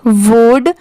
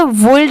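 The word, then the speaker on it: would: ओ यू एल डी वुड अब जैसे यहां पर एल भी तो दिया हुआ है बट हम इसे वल्ड नहीं पढ़ते सिर्फ क्या पढ़ते हैं वुड जैसे सीओ य एल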